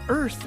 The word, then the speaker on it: Irth: The app is called Earth, which is spelled like the word birth, but we dropped the B for bias, so it's IRTH.